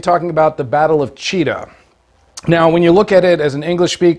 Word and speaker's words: Chita: Russian trust me it's cheetah and uh so it's it's pronounced like uh like the big cat or uh the New England Patriots so cheetah um and with that